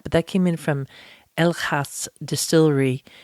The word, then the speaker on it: Elegast: Dutch in the past, the G is often pronounced as H. So it's the N, the E is an A. So it's El Haas Distillery.